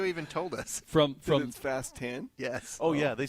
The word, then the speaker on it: Fast X: email when they're like just remember this is pronounced fast 10 not Fast Tax they did well then you know what there